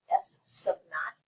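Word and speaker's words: S₀: And S sub 0 is pronounced S sub naught.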